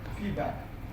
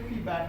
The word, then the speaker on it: feedback: Feedback. Okay? When you pronounce together, you must say feedback and not feedback.